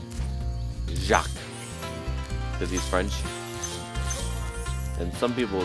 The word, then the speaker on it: Jacques: there's our portal to the boss and Ohio pronounce that name Jacques disease French and some people think it's Chuck twos but that's not the way that way to